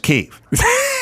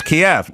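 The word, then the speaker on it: Kyiv: And she'd go, it's pronounced Kiev. And I'd go, I thought it was Kiev. No, it's Kiev. She said, I always heard the news people saying Kiev. Well, it's not. And now we're off Biden.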